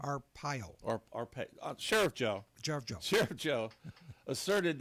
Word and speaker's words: Arpaio: Arpaio, is that how you say his name? Arpaio.